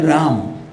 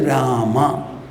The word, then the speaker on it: Rama: In Hindi, so you say Ram. In Sanskrit, we will say Rama.